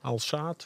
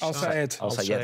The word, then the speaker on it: Al-Sayed: Al-Saad, hoe heet die? Al-Sayed. Danilo Al-Sayed. Ja, Al-Saad is... Ja, kijk even die klemtoon. Al-Sayed.